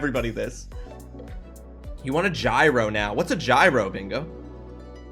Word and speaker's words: gyro: Gyro. Gyro is pronounced yurro. Oh, it's not pronounced like the mechanical thing.